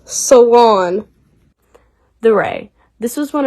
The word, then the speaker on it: salon: in the loo and many showcases in the saloon salon it's pronounced salon the ray this was one of chardon's first